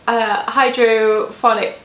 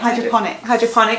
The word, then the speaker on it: hydroponic: Or, again, it's maybe a little bit random maybe, but I think about the sort of hydrophonic, is that how you say it? Hydroponic, thank you.